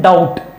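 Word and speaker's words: doubt: लिखता हूं यह है डाउट, बट बच्चे के लिए इसमें ब भी है। अब देखो इसके डाउट बोला क्या क्या जा रहा है, ड आ उ टू, डाउट। इसमें ब नहीं है कहीं भी, जो प्रोनाउंस किया जा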